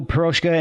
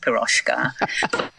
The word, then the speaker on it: Piroshka: if you just put Piroshka. But then again, maybe that would be cool too. The thing is ours is spelt slightly differently because the S in Hungarian is on its own just sh.